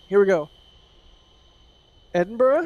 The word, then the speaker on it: Edinburgh: in the uk for jack to try and pronounce all right here we go edinburgh it's very fun game correct durham yeah correct